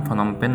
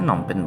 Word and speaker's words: Phnom Penh: অনেকেই জেনে থাকেন যে রাজধানী নাম ফনমপেন নাম কিন্তু উচ্চারণে নমপেন বলা হয়।